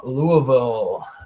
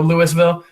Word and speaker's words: Louisville: Louisville, Kentucky. Yeah. Pretend like you've got something in your mouth as you're saying it. Louisville. Yep, there you go. Man, I'm ready. Not Louisville. No Louisville?